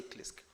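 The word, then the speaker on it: KLISC: involving klisk I know klisk is hard to pronounce when you say Kenya library is information it's actually services not science Services Consortium so just say klisk so thank you for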